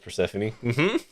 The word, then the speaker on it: Persephone: Like, step on me rhymes with Persephone.